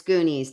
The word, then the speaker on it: Goonies: Yes, it's Goonies. Thank you. Thank you, Ray. Thank you, Eric. All right. Wrinkles or stiffness in the extremities. Thanks, Lee. Rhymes with loonies.